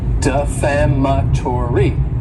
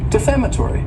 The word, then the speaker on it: defamatory: the word defamatory and this word has five syllables and the stress is on that second syllable defamatory defamatory it's not a good